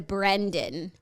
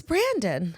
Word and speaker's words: Brandon: No, but also because like something about Sklenar lends itself to Brendan. Phonetically, I completely. Because there's an extra E. It's Brandon.